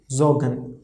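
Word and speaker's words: sorgen: o is coming okay so overall this will be zo r we will skip pronunciation of r because r is in between okay so and then gun okay so overall pronunciation is zogan zogan are we are not pronouncing here okay so zorgan whenever r as we have discussed r and h we will not pronounce in between of the word so zogan it means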